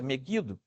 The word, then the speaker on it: Megido: mas um vale que se chama meguido Megido né é com g mas a pronúncia meguido e as pessoas entendem